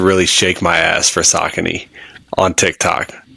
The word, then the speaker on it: Saucony: I'm saying Saucony's, it's okay, but like people would say like it's pronounced Saucony, and I'd be like, no, it's Saucony.